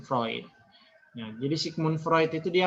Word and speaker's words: Freud: adalah vroid Sigmund freund jadi bacanya itu bukan Sigmund Freud Tapi bacanya Sigmund proyek jadi Sigmund Freud itu